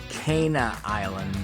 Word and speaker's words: Cana Island: check in later to make sure it is pronounced Kaa Island by the way um my mistake learn that afterwards but here we are on our way to Kaa Island Lighthouse and this is awesome because um this